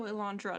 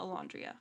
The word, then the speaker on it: Alandra: Oh, Alandra, not Alandrea.